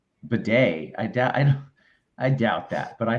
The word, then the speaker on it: Bleday: Chinatown says, as for JJ Bleday, that's actually how you pronounce it. The L is silent. It is bidet.